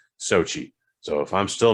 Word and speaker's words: Xochitl: played by Xochitl Gomez, which isn't spelled phonetically Sochi. I can't. Don't ask me to spell it. And I was thankful enough to see enough YouTube videos that pronounced it Sochi.